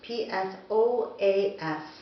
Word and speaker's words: psoas: So today's session will be all about the psoas, P-S-O-A-S, but pronounced psoas.